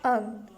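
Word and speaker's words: un: बोलते हैं उर्दू नहीं फ्रेंच में भी हम इसको बोलते हैं अन अन अन अन इस तरह हम इसको फ्रेंच में बोलते हैं ठीक है और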